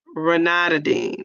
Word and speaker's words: ranitidine: Um, she says it's ranitidine. Okay. When I looked it up, it says pronounce it with Ruhnituhdeen. Deen. Ranitidine.